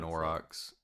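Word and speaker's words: aurochs: I think it's in orox isn't it? Isn't that how you pronounce that? Yeah orox.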